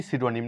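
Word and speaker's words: pseudonym: যাই তাহলে সাইকোলজি এখানে পি সিডোনিম না এখানে পি এর কোন সাউন্ড নেই সিনডোনিম এটা সাম সাইকোলজি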